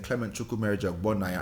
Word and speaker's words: Clement Chukwumerija Ogbonnaya: You know, like, even me starting this podcast and saying Clement Chukwumerija Ogbonnaya, I'm pronouncing it the way my father would pronounce it, or my dad would.